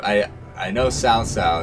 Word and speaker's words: Cao Cao: I know Cao Cao is pronounced like that.